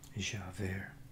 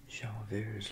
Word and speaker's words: Javert: I guess the T is silent in French. You know, the French subscribers can tell me. Javert.